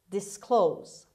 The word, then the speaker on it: disclose: number five this disclose disclose disclose the stress is on the second syllable on k sound disclose